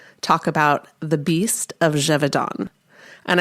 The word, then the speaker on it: Gévaudan: about the beast of Jevidon. And I'm so glad that I looked up how to pronounce that cuz I was calling it the beast of Gavin and I was so wrong.